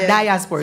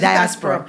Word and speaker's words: diaspora: People always get diaspora wrong. So diaspora. No, it's not diaspora. It's diaspora.